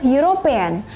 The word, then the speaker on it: European: Kemudian ada a European. Ada European diawali huruf E ya, tapi cara bacanya seperti huruf Y, maka dia diikuti dengan artikel e.